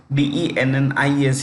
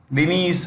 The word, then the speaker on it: Denis: This spelling of Denis is slightly different from the usual spelling that we are familiar with. Dennis is how we usually pronounce it, but this is slightly different. Okay, Denis Shmyhal is the name